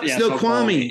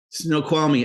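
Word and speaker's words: Snoqualmie: it was a little but it's F yeah snow kwami it's one of those other Indian names that's right snow kwami okay so you're from that area I don't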